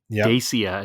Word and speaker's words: Dacia: And so just to go back, Dacia is actually pronounced Dacia.